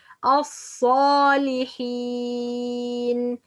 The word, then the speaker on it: الصالحين: The second common mistakes, making dhamma while pronouncing the صاد. الصالحين. It's the correct pronunciation. الصا. Not say الصا. Some people when pronounce الصالحين or the letter of sa, make this صاد have dhamma. Make lips as a circle or around when say الصا.